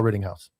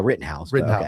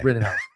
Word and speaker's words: Rittenhouse: one one name Kyle Ritting House. Well, you got the name wrong. It's Kyle Writtenhouse. Ritten House.